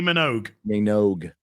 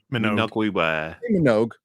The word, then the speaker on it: Minogue: name right tell me Kylie Kylie Minogue not Minogue I just wasn't sure